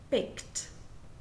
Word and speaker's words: baked: base or root verb ends with a voiceless or unvoiced consonant except for T because that was in rule one then the Ed D sounds like T and the E is silent so there is no extra syllable so let's take just